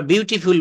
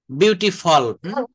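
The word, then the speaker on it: beautiful: আমরা বিউটিফুল বলি বিউটিফল, বিউটিফল।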